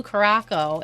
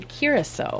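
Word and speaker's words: Curaçao: mispronouncing curacao yep so we were saying blue croco and he i was not in the room he very kindly let us know in a polite very polite fashion and send us a video on how to say it so it's blue curacao yes yeah so uh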